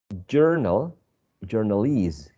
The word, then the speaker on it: journalese: Journal, journalese. Journal, first syllable. Journalese, last syllable.